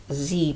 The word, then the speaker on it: Z: I'm in my little singles Z palette or Zed palette depending on how you want to pronounce it I'm just realizing